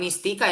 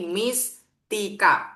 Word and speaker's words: Miss Tika: Eh, bukan Mistika ya, tapi Miss Tika. Pisahin, bacanya dipisah.